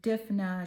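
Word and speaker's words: Dymphna: Okay, Saint Dipna.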